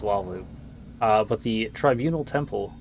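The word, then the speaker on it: Hlaalu: I think the h is silent. I think it's just waloo.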